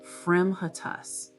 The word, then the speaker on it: fremitus: Pronunciation, fremitus.